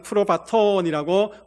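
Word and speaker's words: πρόβατον: 그리고 마지막 세 번째 이야기한 프로바톤이라고 읽습니다.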